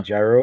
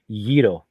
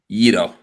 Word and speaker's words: gyro: It's not actually gyro. It's a Yito. Yito.